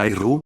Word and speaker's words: Aire: Nota del editor: Aire se pronuncia Airu, no como pelo.